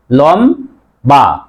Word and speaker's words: লম্বা: আকার উচ্চারণ কি হবে লম বা লম বা একটি নিয়ম আছে যে ম এর সাথে যদি ব ফলা থাকে ব এর উচ্চারণ লম্বা আপ আমরা কি